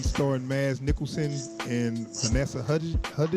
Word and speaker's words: Hudgens: Now Polar is a movie starring Mads Mikkelsen and Vanessa Hudgens. How you say her name? Hudgens. Okay. Yeah, Vanessa Hudgens.